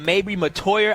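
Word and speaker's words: Mettauer: it'll be May Mater that's how you say it may Mater I've been saying his last name wrong for so you know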